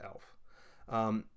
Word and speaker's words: Aelf: is that time when we get the spelling AEL F for the word elf and basically what it is is there is no differentiation between the a and the e it's a single letter based upon a room